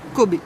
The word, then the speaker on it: cobaye: Oui, ça se prononce Kobe en Belgique. Suite à mes vidéos, j'ai eu des remarques relativement amusantes qui, dans un sens, ne m'ont pas fait beaucoup de mal. Mais j'ai eu jusqu'à des menaces parce que je prononce Kobe et pas cobaye à la française.